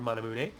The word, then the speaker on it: Manamune: uh yeah people are just here me say manamune they did not realize that you actually pronounce it that way but that is the correct pronunciation for manamune it's a I think it's like a Japanese